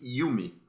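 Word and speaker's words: Hume: Eh, na verdade a gente lê um com H no começo, só que a gente pronuncia David Yumi.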